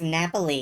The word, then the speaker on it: Napoli: It's funny, I thought it was always pronounced Napoli in Italian.